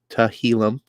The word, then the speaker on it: Tehillim: One of the most hard to pronounce names, apparently, because everyone gets it wrong. Our boy Tehillim, 29. That's how Tehillim. If you're ever just curious on how to say it, every time I see